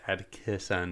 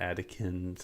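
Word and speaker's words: Atkison: of John adkison's and my last name spelled ATK it's ed kiss and and not Adkins and and and if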